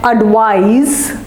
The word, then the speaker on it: advise: It's advice with an S and advise with a Z.